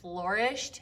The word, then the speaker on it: flourished: Whenever I first started teaching this word, I used to pronounce it flourished, and my mom made fun of me.